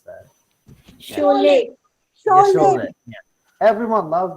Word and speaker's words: Sholay: I don't know how to pronounce that. Sholay.